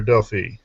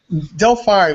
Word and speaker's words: Delphi: online company Delphi or you know how you pronounced it Delphi or Delfy Delphi we pronounced it yeah Delphi a lot